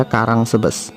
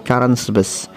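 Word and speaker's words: Caransebeș: Ya, kalau dibaca di Indonesia Karangsebes. Bacanya agak susah ini, Karansebes.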